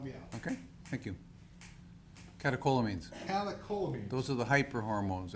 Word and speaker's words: catecholamines: Catecholamines.